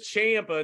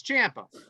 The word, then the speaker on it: Ciampa: name champa champa spelled c-i-a-m-p-a so it is champa not champa somebody called someone to say champa someone so we're pronouncing it right it's champa all right i just didn't want to look